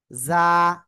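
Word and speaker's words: ز: জ- উচ্চারণ করেন। জ- আজ, আজ, জ- এই যে ঝিঝি পোকা যেমন ডাকে এরকম বলতেছি। জ- জ- সবাই জোরে জোরে জোরে জোরে জ- জ- এরকম আওয়াজ করতে হবে।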